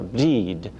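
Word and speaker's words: Bríd: early saints in Ireland, Saint Brigid, or Bride, as her name is pronounced in Irish.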